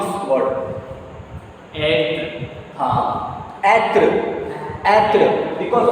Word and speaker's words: être: So how to pronounce this word? end. Atre.